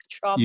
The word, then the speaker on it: Trumbull: Did I pronounce that correctly, Mark? Trumbull.